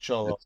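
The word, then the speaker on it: Xolo: again okay cholo yeah because x o l o but cholo is pronounced cholo yeah so I cannot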